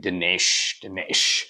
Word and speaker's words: Dinesh: why he kind of uses the Indian pronunciation of my name. He doesn't call me Dinesh, he calls me Dinesh, which is kind of the Indian way of saying it.